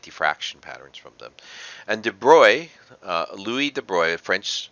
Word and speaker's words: de Broglie: you can get diffraction patterns from them and de bruy louis de bruy a french scientist had this